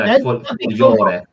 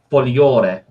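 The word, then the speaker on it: Folgore: Is it Fulgore? Fulgore? No, Fogliore. Sorry? Fogliore. Fogliore. Y. Yeah. The L and the G sort of merge into nearly like a Y to some extent.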